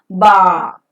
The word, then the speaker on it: bar: The word final r is never pronounced and it remains silent and hence it is pronounced as bar.